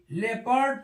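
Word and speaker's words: leopard: ए एल ई ओ पी ए आर डी लेपर्ड पढ़ते हैं ऐसे ही आर ओ यू जी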